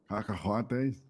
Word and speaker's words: cacahuates: Cacahuates.